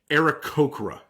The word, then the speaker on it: Aarakocra: It says it's the same A sound as the word happy, but starting off in era, man, it's been fucking with me all week. So, anyways, Ericocra is the official pronunciation.